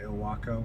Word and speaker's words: Ilwaco: It's Ilwaco or Ilwaco. I think the locals say Ilwaco.